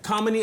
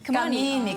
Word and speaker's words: Kamini: Kamini as in harmony.